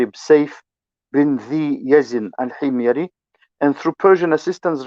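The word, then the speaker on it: Sayf: and through persian assistance this is the correct pronunciation of his name safe yes and through persian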